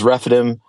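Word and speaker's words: Rephidim: we're just going to leave it as refidim that's how you say it in Hebrew that's how you say it in English that's their name but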